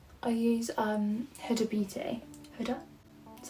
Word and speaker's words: Huda: also quite good i use um huda beauty hoda that's how you say it that is what